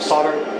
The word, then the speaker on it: solder: Now, I usually do solder them, or solder, as the Americans say.